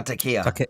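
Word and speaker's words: taqiyya: Oh, Takia.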